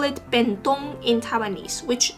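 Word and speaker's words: 便當: box we call it ben dong in taiwanese which the pronunciation is very similar to japanese i actually looked it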